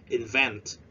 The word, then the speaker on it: invent: five event invent uh remember to spread at the second syllable invent invent yeah to produce